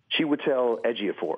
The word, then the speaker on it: Chiwetel Ejiofor: How do you pronounce his name again? Chiwetel Ejiofor.